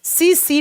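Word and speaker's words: tsetse: से लिखा जाता है टी को प्रोनाउंस के समय साइलेंट किया जाता है सी सी फ्लाई सी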